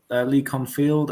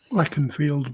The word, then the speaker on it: Leconfield: Leacon Field at 5. I think that's how you pronounce it. Leconfield, but yeah.